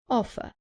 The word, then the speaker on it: offer: Offer. Remember that in British English, the R at the end is not pronounced.